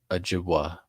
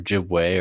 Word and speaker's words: Ojibwe: book, the voice of the Ojibwa, or Ojibwe, or sometimes Ojibwe is spelled with W-A-Y at the end, or W-E at the end, or Chippewa. It's all the same. It's all the same. But there's sometimes confusion.